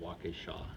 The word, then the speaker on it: Waukesha: I said, it's called Waukesha.